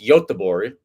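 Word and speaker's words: Göteborg: I could not pronounce until Swedish people told me that uh G's are not G's in Swedish. So the city is pronounced Yabbor supposedly. Uh we'll see if I got that correctly.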